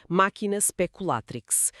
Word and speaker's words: Machina Speculatrix: Está disponível publicamente no blog do autor Máquina speculatrix. Uma última vez a pronúncia latina máquina speculatrix.